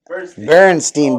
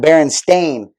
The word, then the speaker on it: Berenstain: effects there it is berenstein bears but it's better it's spelled that baron stain but when i was a kid it's berenstein like jewish name yeah berenstein berenstein like